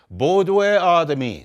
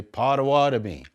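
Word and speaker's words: Bodéwadmi: Bodwe Adami, some people say Potawatomi.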